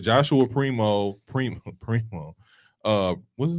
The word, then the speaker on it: Primo: like I said Joshua Primo Primo Primo uh what's his name Primo Prime let's go Prime Primo it is primo you said it right it's Primo Primo